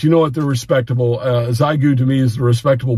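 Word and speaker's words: Xiegu: From this point forward, I'm going to pronounce it Zygu, and I'm going to call that the official North Carolina pronunciation for Zygu radios.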